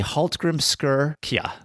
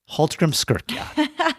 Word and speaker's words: Hallgrímskirkja: It's going to be Hallgrímskirkja. Hallgrímskirkja. Yeah, I know. And it sounds nowhere like it's spelt, okay?